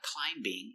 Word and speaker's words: climbing: When you have extra letters after it looks like being but remember the B is silent. It's not climbing.